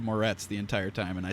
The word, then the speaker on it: Moretz: entire thing i said i said mortez instead of moretz the entire time and